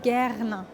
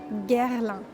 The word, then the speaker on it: Guerlain: And the pronunciation is Guerlain. Guerlain. Maybe a bit tricky as well with the R, but yeah, this is how you pronounce it, Guerlain.